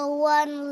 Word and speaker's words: one: A one leg man.